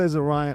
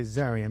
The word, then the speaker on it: Zarian: Some people say Zarion. I say Zarion because my name is Darien. So spelled the same way Zaryen.